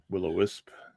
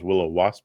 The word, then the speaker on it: Willow Wisp: Willow Wisp. Yeah. Will Did I pronounce that wrong?